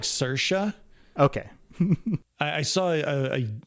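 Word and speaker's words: Saoirse: her name my apologies I think it's supposed to be pronounced like cersa okay I I saw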